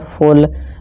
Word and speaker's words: full: ठीक है, जैसे कि FULL फुल, और ये पुश छोटा ऊ पुश, और ये बोल।